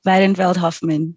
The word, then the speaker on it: Weidenfeld-Hoffmann: And she's a recipient of the Chevening Scholarship, and I don't know how to pronounce that, Trust Scholarship. Can you say it? Weidenfeld-Hoffmann Trust.